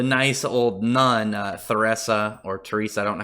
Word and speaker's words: Theresa: And that being the nice old nun, Theresa, or Teresa, I don't know how that's pronounced. I think the H is silent, probably a reference to Mother Teresa.